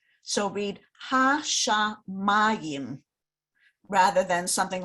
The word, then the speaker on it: hashamayim: Most of the time, the stress in Hebrew goes on the very last syllable. But if you notice, the trope mark is right under the mem, right? Right under the mem. That is telling you, put the stress on that syllable.